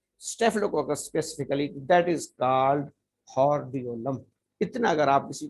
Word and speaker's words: hordeolum: जाता है external, external हॉर्डियोलम, external horror हॉर्डियोलम, हॉर्डियोलम, external हॉर्डियोलम। आर को आपने साइलेंट रखना है या आर की आवाज बहुत कम आपने निकालनी है, एक्सटर्नल हॉर्डियोलम।